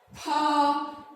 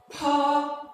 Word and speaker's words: pa: and this one is pa. And please, this is an aspirated sound. Pa is an aspirated sound. When you're pronouncing it, there is a kind of strong air that comes out with the pronunciation.